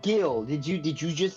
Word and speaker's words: Gill: um sorry about that it's pronounced gill that's it that's all